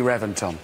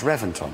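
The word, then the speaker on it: Reventón: a v Reventon no I know it's spelled with a V but it's pronounced with a B why don't know they've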